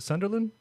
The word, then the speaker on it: Sunderland: But I know this does somewhat lead into your album because where you're from, where you're based, do you pronounce it Sunderland?